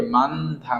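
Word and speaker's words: 많다: ফিয়পের ব্যতিক্রম যেটাই থাকুক না কেন আমরা সামনেটা উচ্চারণ করব আর এটা কি হবে, বাদ যাবে পরেরটা। তাহলে এটা কি হবে, মানথা, মানথা মানে কি বেশি, আনথা মানে কি বসা, অব দা মানে কি নাই।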